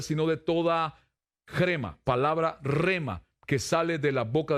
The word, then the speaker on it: rhema: está usted acá todavía ya se durmió ahora rema que es lema según el vocablo griego crema crema con jota pero se pronuncia rima quiere decir una declaración una palabra que se